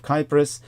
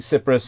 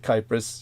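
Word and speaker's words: Κύπρος: when turkey invaded the island of kypris as the Greeks pronounce it uh I was saying Cyprus in a past episode uh but uh uh V was reminding me the Greeks pronounce it kypris she's quite correct and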